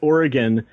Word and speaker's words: Oregon: Pronounce it Oregon, you're already 10 steps ahead of where you need to be. Yeah? Hey, thanks, man. Yeah. You're one of the few Minnesotans who knows how to do that.